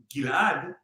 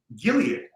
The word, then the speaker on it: Gilad: little tidbit for you my name gilad is actually the original pronunciation and the way it's written in the bible gilead what what christians around them know the world is actually the place and the way you actually pronounce it in hebrew so now you know